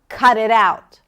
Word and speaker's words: cut it out: Cut it out. Now say it with an angry tone. Cut it out. The stress is on out, the last part of the phrasal verb.